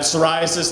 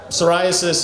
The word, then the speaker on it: psoriasis: Uh the the psoriasis, it's spelled it starts with a P. It starts with the letter P. The P is silent.